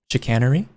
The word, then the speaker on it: chicanery: Oh wow, it's just pronounced chicanery. Okay, so no ch at all.